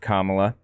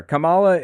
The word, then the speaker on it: Kamala: knowledge everybody has endorsed Kamala that's how her name's pronounced by the by Kamala not Kamala for what it's worth I thought it was Cala she's the nominee now